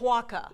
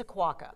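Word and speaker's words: Oquawka: Oquaka. Oquaka. I defer to your expertise on this, Paula. It's Oquaka. Is it Oquaka? I just got it. It's Oquaka.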